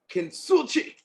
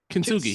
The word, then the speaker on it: Kintsugi: So I got Alec and Bradley Kinsuchi. I think I said that right. I said it right. Yeah, Kintsugi.